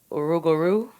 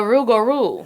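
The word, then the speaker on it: rougarou: Oh, have you ever heard of the rugaroo? What? The rugaroo. Uh-uh. How do you spell that? R O U G A R O U. Whoa. Uhuh. So, the rugaroo, part man, part wolf.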